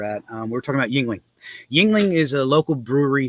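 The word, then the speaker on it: Yuengling: new beer it's called yin Ying she couldn't even say it like you mean Yingling and she goes yeah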